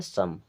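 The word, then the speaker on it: some: तह हो रहा है जैसे एस ओ एम ई इसे पढ़ना है सम सीओ एम ई इसे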